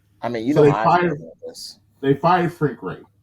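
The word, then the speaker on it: Frank Reich: mean this they fired Frank Ray is it right is that how you pronounce it right yeah Frank right yeah Frank right he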